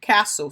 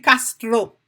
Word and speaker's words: castle: Parce que T, li silence nan mot ça, ou pas prononcer castle. Castle. OK? C'est comme ça pour prononcer le castle, ou pas dire castro, m'pa konnen, casto.